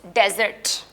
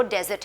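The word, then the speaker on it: dessert: रेत होती है, वो डेजर्ट है। लेकिन आप इसको देखें, मैं इसको डेजर्ट नहीं प्रोनाउंस करी, मैं इसको डिज़र्ट प्रोनाउंस कर रही हूँ।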